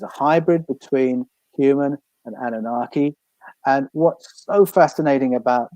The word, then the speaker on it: Anunnaki: Anunnaki.